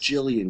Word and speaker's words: Gillian: this guy Gillian right whose real name should have been pronounced Jillian which is a girl's name who I didn't even